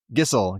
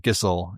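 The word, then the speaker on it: Gysahl: Gissel. Gissel is the actual pronunciation for the greens. I had to try 3 different versions of it, but Gissel is how you pronounce the Gissel greens.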